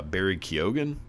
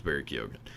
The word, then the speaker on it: Barry Keoghan: Basically it's the story of the fella in the middle, played by Barry Keoghan, I believe is the pronunciation. He's Irish, so who gives a shit? But I believe it's Barry Keoghan.